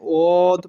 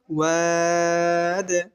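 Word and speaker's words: الواد: অনেকে এখানে ওদ পড়ে, উচ্চারণটা ওদ হবে না। ওয়াও একটা পাতলা হরফ, এর উচ্চারণও পাতলা হবে। ওয়াদ।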